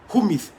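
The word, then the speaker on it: ὑμεῖς: Now, the Greek word for you is humis. Humeis. Yes. Humeis. At times, the pronunciation is different from how the word is spelled.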